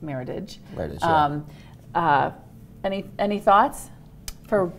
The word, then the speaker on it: Meritage: He thought it might have been what he called a meritage, which I think it's actually pronounced meritage.